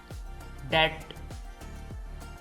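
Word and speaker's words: debt: silent है डाउट शक डेट इसमें भी बी साइलेंट है डेट कर्ज सब्बल लतीफ लैम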